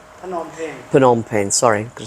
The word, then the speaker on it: Phnom Penh: Just to check it out cuz I hear good stories about nonen pen. Penom pen.